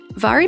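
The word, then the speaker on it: Mhairi: Vari McFarane, if you haven't read any of her books before, it is pronounced vary even though it's spelled with an MH.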